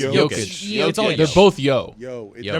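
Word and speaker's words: Jokić: to the finals huh but how do you pronounce the J in his name yovich yovich but for jokic it's it's jokish they're both yo yo they're both young I'm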